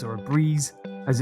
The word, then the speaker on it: Brez: if you do want to pick up a breeze or a breeze as it's actually pronounced then check out their website and go